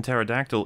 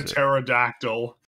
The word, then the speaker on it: pterodactyl: uncommon i don't know the p in pterodactyl isn't supposed to be silent but much like the k and knight people found it easier to ignore and so we don't pronounce the pterodactyl well it's a real